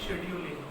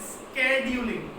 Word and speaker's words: scheduling: Word वो यही है शेड्यूलिंग, बट जो फॉरेनर्स है, जो फॉरेन कंट्रीज है, वहां पे शेड्यूलिंग नहीं कहते हैं इसे। जो इसका एक्चुअल प्रोनाउंसिएशन है वो है स्केड्यूलिंग। क्या है? स्केड्यूलिंग, नॉट अ शेड्यूलिंग।